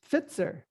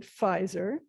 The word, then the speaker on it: Pfizer: So the Germans would pronounce this Pfitzer. And that's because of the change in the way the consonants are pronounced in High German. But we would pronounce it Pfizer, and the I would be different than most European languages pronounce I's because of the great English vowel shift that went on from the 12th to the 18th century and was especially prevalent in the 15th to the early 16th.